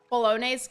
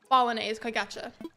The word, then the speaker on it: Bolognese: pasta noodles in the picture hold it it's pronounced like Bolognese gotcha okay is it just like a fancy